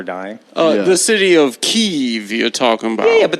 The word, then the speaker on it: Kyiv: I just wanted you And to of feel- course, the correct pronunciation is Kyiv.